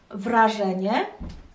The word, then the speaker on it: wrażenie: Wrażenie, wrażenie, wyrażenie, wyrażenie. Wrażenie, wyrażenie. So first one, three syllables. The second one, four syllables.